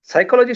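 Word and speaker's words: psychology: जैसे साइकोलॉजी शब्द का या फिर निमोनिया शब्द का उच्चारण हम जब करते हैं तो पी साइलेंट है ऐसा कहा जाता है।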